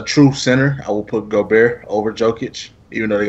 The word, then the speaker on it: Gobert: Rudy Gobert. Gobert.